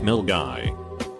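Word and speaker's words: Milngavie: guy which is Scotland mill guy is pronounced mill guy the middle school I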